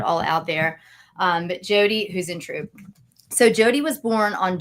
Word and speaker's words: Huisentruit: So the name is pronounced this way. It's spelled a little differently, and so you'll see it when I put it all out there. But Jodi Huisentruit.